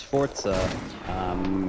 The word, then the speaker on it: Forza: Oh, that's You pronounce Forza in the way a German would pronounce it. The Z is sort of like a T and a Z Yeah, sound Forza combined.